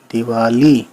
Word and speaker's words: دیوالی: دال زیر دی، واو الف زبر وا، دیوا، لام چھوٹی لی، دیوالی.